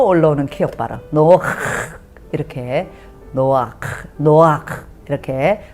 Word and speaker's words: נח: 허락을 했지만 목에서 올라오는 기업 봐라 이렇게 너와 노아크 이렇게 발음을 하랍니다 그래서 우리말로는 그게 노아라는 거예요 노아